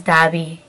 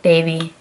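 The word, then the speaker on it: daabi: No is dabi. Like, davy.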